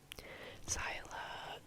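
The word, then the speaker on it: Xyla: have zyla hi syla syla told me her name is spelled X Y L A like syla phone such a um I've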